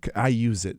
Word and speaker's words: iuzeit: And it's got a cool name, iuseit. Okay, spell it for us. iuzeit. It's like the phrase I use it, but with a Z instead of an S.